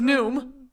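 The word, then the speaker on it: Noom: our new sponsors and their name is new - sounds like new does the new one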